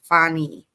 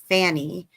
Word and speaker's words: Fani: I know that people mispronounce Mrs. Willis's first name. It's Fani. And I know that because of how it's spelled, we're inclined to say Fanny.